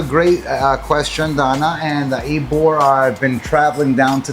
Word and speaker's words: Ybor: So, it's spelled Y B O R, but it's called Eore. Eore, which makes me think of Eigore, like Eore, right?